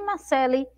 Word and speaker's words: Marcelo: exemplo só e é de palavras né que a gente escreve aí com a letra m mas que a gente pronuncia né como se estivesse ali uma letra e então ó se tiver alguma Luna aí do 2º ano chamada Marcelo e me assistindo Olha lá seu nome é Marceli Então vamos ver Marcele